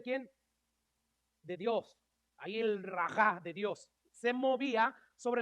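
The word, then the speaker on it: רוח: Cuando habla en el Antiguo Testamento del Espíritu Santo, habla de esta palabra hebrea rajá o algo así, sí, se pronuncia así.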